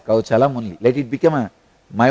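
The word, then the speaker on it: kauśalam: I am not going to pronounce this as a kaushalam. I will call it as kauchalam only.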